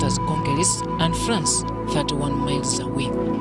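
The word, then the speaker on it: Calais: The Channel Tunnel, or Channel, connects Folkestone, England with Conquers, pronounced as Conqueris, and France, 31 miles away.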